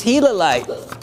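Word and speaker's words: gilalite: would and that is hilite pronounced as like the hila monster if you have ever been out to Arizona it is one of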